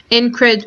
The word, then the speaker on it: incredulity: It's almost like a DG sound here, incredulity, rather than incredulity.